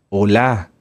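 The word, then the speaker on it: עולה: se llama en hebreo holá holá holocausto holá sí no como de Hola No Hola acento en la a y va con h final las ofrendas de oblación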